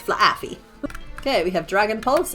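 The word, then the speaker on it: Flaaffy: You got to pronounce the two distinctive A's here. It's not fluffy, it's flafy.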